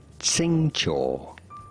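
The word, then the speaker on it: Xingqiu: Tsingcho. Tsingcho is how it is said.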